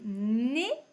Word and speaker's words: nez: Alors les mots avec le son et, le mot qu'on connaît c'est le nez. Donc on dit le nez, mais ça s'écrit EZ. Et le panier que nous avions déjà vu plusieurs fois avec ER.